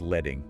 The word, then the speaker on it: leading: The source explains line spacing, the vertical distance between lines of type, which it calls leading, pronounced letting. Yes, letting, like the metal.